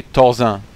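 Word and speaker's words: Thorzain: it as well and I will always use the French pronunciation for some nicknames like Thor Zan I would say tozan and they'll be like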